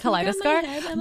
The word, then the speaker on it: Kaleidostar: Yeah, wait, because it's like a kaleidoscope, so like Kaleidostar.